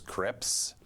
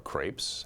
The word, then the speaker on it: crepe: I'm a huge fan of super thin pancakes, sometimes known as crepes, or crepes, as the spirit show moves you. It turns out both pronunciations are acceptable.